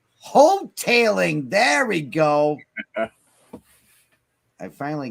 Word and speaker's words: Hotaling: H-O-T, hotel. Is the A pronounced as a E? Short E? Long E? Tailing. Tail. Oh. Hoteling.